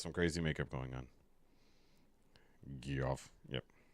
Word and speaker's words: Geoff: here here and saying his name is Jeff stop saying it wrong it it's all we do here we when when he's by himself he's G but when he's with the group he's Jeff so it is what it is this is